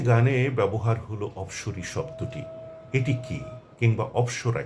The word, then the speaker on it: অপ্সরী: এই অফ থেকেই অপসরা কিংবা অপসরীর উৎপত্তি।